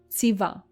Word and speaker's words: ציווה: ציווה, he commanded.